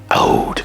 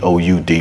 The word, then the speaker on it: Aoud: out now he doesn't he calls it a o u d because that's how they say it over in the Middle East is they say out they they don't say oud now if you guys